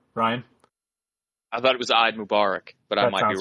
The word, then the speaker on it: Eid Mubarak: I thought it was Eid Mubarak, but I might be wrong. Correct. Okay. Eid Mubarak.